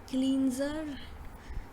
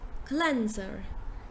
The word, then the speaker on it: cleanser: word is this so a lot of people pronounce it as cleanser but in fact it is cleanser so you say clean first and then first then cleanser cleanser cleanser yeah now the next